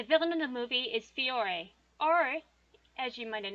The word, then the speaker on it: Fiore: like the singular form it is pronounced like the plural form fiori and his personality is